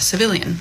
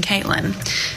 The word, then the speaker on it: Cviiilyn: I really feel like that would be pronounced civilian.